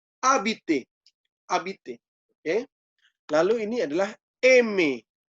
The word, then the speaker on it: habiter: Ingat, huruf H dalam bahasa Prancis tidak pernah dibaca. Jadi habiter, langsung ke A-nya, H-nya ditinggalkan, tidak usah dibaca. Habiter, habiter.